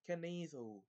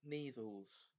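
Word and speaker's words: Kneazle: They clearly pronounce what ought to be a silent K at the beginning of each of those words.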